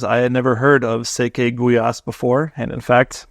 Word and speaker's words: Székely gulyás: this dish because I had never heard of SE guas before and in fact pronounced it cly gas until I learned better but the name popped